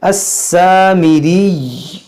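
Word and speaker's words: السامري: देखिए अस्सामिरी, देखिए मीरी, इस तरह यहाँ पर या को जो है तशदीद बाकी रहेगा, या को जो पेश है साकिन करेंगे। व अदल्लहुमुस सामिरी, इस तरह आप यहाँ पर वक्फ करें।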